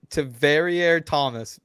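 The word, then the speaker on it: Tavierre Thomas: We got Wyatt in the chat saying it's pronounced Taveriere Thomas.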